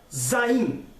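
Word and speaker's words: zayin: eu z de brasil que no hebraico se pronuncia zayn zayn e qual é a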